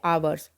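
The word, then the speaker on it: hours: देखिए बच्चों यहां पर मैंने बोला है अवर्स हम ह यहां पर हमेशा साइलेंट होता है तो वही मस्ट बी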